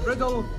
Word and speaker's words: Riddell: Thomas Riddle Esquire, or Thomas Riddell Esquire as we pronounce.